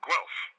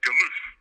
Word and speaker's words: Guelph: that sign and spent the next 6 months pronouncing it Galoof. And it is now stuck in the family. That city is never Guelph in our family.